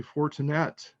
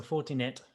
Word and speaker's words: Fortinet: here chris is it fortinet or fortinet i don't know i don't know because i've still got slide an english accent there so fortinet i say but that could be english the way i'm pronouncing it like castanet okay that sounds good